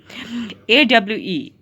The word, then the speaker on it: awe: AWE, it is pronounced as awe.